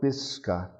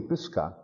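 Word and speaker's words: Pisskan: with their western word they'd spell it p i s s like piss and khan k a and stress over the a sounds like a you pisca this gun and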